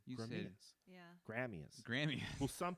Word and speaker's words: Gramia's: Like they try to pronounce all the letters in the word.